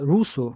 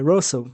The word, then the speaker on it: Russell: E tem essa essa passagem de e russo, né? É Russell, né? Eu tenho que tô trabalhando a pronúncia. Às vezes falo Russo, mas é é Russell. A a pronúncia correta é é Ber Bertard Russell.